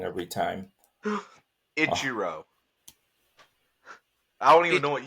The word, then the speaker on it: Ichiro: not because I'll say it wrong every time Ichiro I don't even know what you said but it's Ichiro yeah so he would get the first position